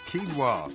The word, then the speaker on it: quinoa: trying to ask you because it's pronounced quinoa well okay all right